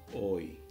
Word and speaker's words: hoy: Oi. Oi means today. Yeah. So the sound is oi here, H is silent.